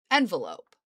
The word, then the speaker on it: envelop: But there's another word that is spelled exactly the fucking same, and it is the word envelop, right? To envelop something.